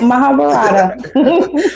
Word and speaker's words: Mahabharata: Yeah, I would tell anyone, pick up this movie, Mahabharata. Am I saying it right? Yeah, you got it, Mahabharata.